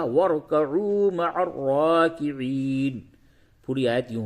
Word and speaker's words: وَارْكَعُوا: یہ را ساکن ہے اس سے قبل را ساکن سے ما قبل واو پہ زبر ہے اس را کو بھی پور کر کے پڑھیں گے. اور یہ واو مدہ ہے اسے تھوڑا سا کھینچیے تو یوں ہوگا وَارْكَعُوا مَعَ الرَّاكِعِينَ.